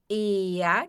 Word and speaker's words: er: E a ea, que quer dizer ele. Aqui vai ter o som de A no final, tá? por causa do R ali. Então, a gente não diz R, a gente diz ea.